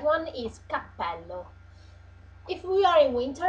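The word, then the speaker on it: cappello: is called Capell H pay attention to use a double P because um because uh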